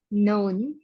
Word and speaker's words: know: si David has only knya gak dibaca know Jo Jo BAC Jo